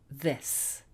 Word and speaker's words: this: Many people think that these 2 words sound exactly the same, but they don't. They sound quite different, actually. E, I. E, I. These, this.